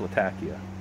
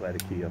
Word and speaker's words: Latakia: It is pronounced Latakia, not Latakia, by the way.